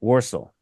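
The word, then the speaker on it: Walsall: going with that route I'm not going to pronounce it like an American I'm gonna pronounce it with the full yam yam and go warsal yeah I'm we can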